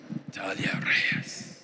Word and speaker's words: Natalia Reyes: Is that how you pronounce Natalia Reyes? Yes. Natalia Reyes.